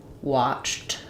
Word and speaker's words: watched: So we had, our first example was watched that. This is where we have the T sound for the ED.